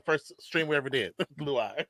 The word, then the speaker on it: Luai: Luai. It's either Luai. It's either Luai or the more accepted pronunciation of dickhead.